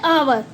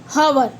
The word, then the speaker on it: hour: एच क्या होता है आवर में, साइलेंट, क्या बोलते हैं हम इसे, आवर, ना कि हवर।